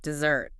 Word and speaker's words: dessert: Dessert. And the stress here is on the end.